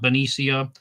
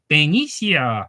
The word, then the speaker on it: Benicia: Is Benicia, right? Not Benicia. I was saying Benicia for years because I went to Spanish 1 in the 8th grade. So Benicia, that's how I want to say it.